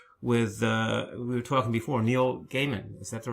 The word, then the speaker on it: Neil Gaiman: He wouldn't talk to anyone, and finally he granted an interview with, we were talking before, Neil Gaiman. Is that the right pronunciation?